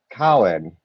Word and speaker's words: Samhain: Obates, Bards, and Druids, the word Samhain is pronounced as Cowan.